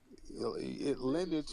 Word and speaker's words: lineage: Lineage rhymes with spinach.